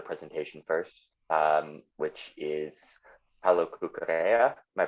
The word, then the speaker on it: Cucurella: But we're going to have another presentation first, which is Paula Cucurella. Am I pronouncing that right?